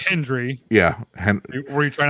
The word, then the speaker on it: Hendry: Yeah, dude, Joe Henry appears. Say his name and he appears. Say his name right. Yeah. It's Hendry.